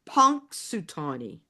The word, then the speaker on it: Punxsutawney: x s u t a w NE y pronounced punk sutani punk everybody thinks it's punk sutani you know